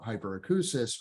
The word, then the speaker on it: hyperacusis: This is pronounced hyperacusis, like the word acoustic.